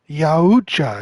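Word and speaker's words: Yautja: Yachae. How do they pronounce that? Yacha. Yeah, Yawucha is how it's pronounced through the fandom websites.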